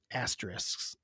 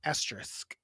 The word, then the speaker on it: asterisk: know what they are asteris Aster asteris asterisk that's how you say it fder fder what a